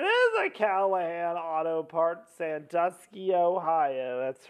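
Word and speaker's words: Sandusky: out that's a different no it's sanduski Ohio it's the name of the town it's not freaking santosi from Penn State Austin it is spelled the same way but but it was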